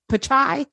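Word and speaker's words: Pichai: the CEO uh Sundar how do you say his last name p-i-c-h pachai I think it's like chai tea so yeah which means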